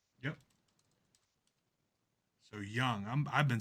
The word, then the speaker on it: Jung: Card number It's Young. The J sounds Young, like a not Jung.